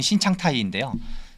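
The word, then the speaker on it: 新常态: 방식을 통해서 중국판 뉴노멀 한자로는 신상태 발음으로 치면 신창타이인데요 그때부터 이제 의식적으로 우리가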